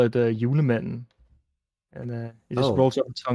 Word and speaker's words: Julemanden: It's like Julemanden. Oh, Yule. Yeah, Yule. Yuletide. Yeah, basically like the like you could say it's like the Yule man.